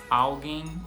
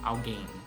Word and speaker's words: alguém: Por exemplo, por muitos anos eu falei garçom em vez de garçom e alguém em vez de alguém.